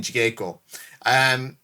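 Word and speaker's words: jigeiko: and keep tension in jigeko. I'm going to welcome to Andy's Japanese classes. It's not a K, it's a G. It's a J. All right, there's no soft G in Japanese.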